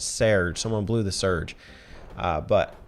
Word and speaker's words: Serge: It's spelled S-E-R-G-E. But apparently it's something closer to Serge. The Japanese hiragana reading is Serge. So I'm going to call him Serge.